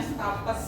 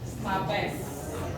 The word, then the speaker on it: stapes: Kemudian stapes, jangan bacanya stapes. Stapes.